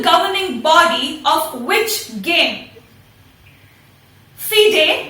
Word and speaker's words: FIDE: FIDE, but it is spelled F-I-D-E.